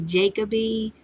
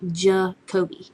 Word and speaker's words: Jacoby: name because I guess some people like to say Jacoby or Jacoby or I don't know how you get that but um it's actually ja Kobe Jacoby and I picked